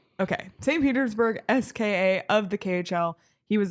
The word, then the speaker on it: SKA: Do you say SKA or do you say SKA? You pronounce the letters. Okay. St. Petersburg SKA of the KHL.